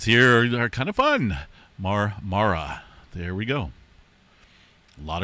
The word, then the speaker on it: Marmara: Notice a lot of twos, threes, and fours out there around the Mara Mara area.